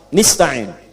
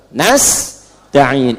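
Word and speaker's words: نستعين: Ada yang baca pakai kasrah. Nista'in ya. Nistain ini bacaannya dari Bani Asad, Rabiah, dan Bani Tamim. Tapi kita baca harus menggunakan fathah kalau untuk kita ya. Jadi bacanya apa? Nastain'in.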